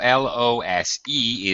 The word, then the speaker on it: lose: Uh S pronunciation. Okay. Be careful. L O S E is lose.